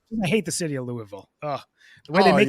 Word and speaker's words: Louisville: I I like I hate the city of Louisville oh the way they make you say you get there it's pronounced Louisville ohis Louisville godamn it um before